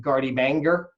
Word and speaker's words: garde-manger: It sounds like garde-manger, but it's actually pronounced garde-manger.